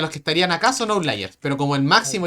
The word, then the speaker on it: outliers: Claro, esos serían los que estarían acá, son outliers. Pero como el máximo y el mínimo están acá, no tenemos outliers. ¿Cómo se escribe? Perdón la ignorancia. Se dice out, como fuera en inglés, ¿Ahora? ¿Ah? liars.